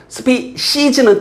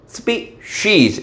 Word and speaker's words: species: 뭐 이런 것 더 사소한 건데 species 틀린 발음 spees 이런 건 사소한 건데 정확히 알아두세요.